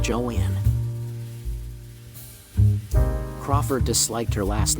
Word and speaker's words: Joan: adoption of Joan Crawford her preference was for her first name to be pronounced Joanne Crawford disliked her last